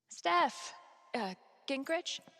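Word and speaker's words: Steph Gingrich: Steph, Gingrich?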